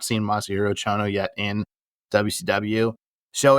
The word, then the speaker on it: Masahiro: Because we got Masashiro Chono. Uh-huh. Did I say it right? Well, it's Masahiro Chono, so you're really close on it.